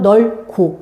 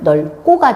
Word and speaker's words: 넓고: 그래서 얘는 얘는 요기에서 된 소리 발음을 먼저 내고 그러고 나서 하나가 떨어져 나가는 거야. 비읍이. 그러니까 무슨 얘기냐? 일차적으로 얘가 된 소리 되기가 먼저 일어난 거야. 오케이? 그러고 나서 여기에서 뭐지? 다음근 단순나 이렇게 돼야 돼. 그래야 적이 일어날 수 있지. 안 그러면 비읍이 먼저 떨어가 그럼 넓고 이렇게 발음해야 돼. 네. 그게 아니죠. 표준 발음은 넓고가 돼야 돼.